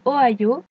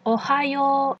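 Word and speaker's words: おはよう: Pour le matin, ils utilisent Ohioas. Attention, c'est un O. Faut aussi faire attention à bien prononcer le ha. Donc on ne prononce pas Ohio mais Ohio.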